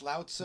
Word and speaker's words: Lao Tzu: listeners to I mentioned Lao Tzu sometimes pronounced Lao Tzu yeah he wrote the